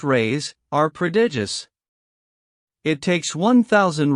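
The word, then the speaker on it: reis: The Portuguese pennies or ree pronounced rays are predigious.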